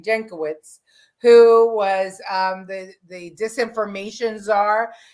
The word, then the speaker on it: Jankowicz: Jankowicz, who was the disinformation czar, the truth guru, and she was going to be monitoring all of our information.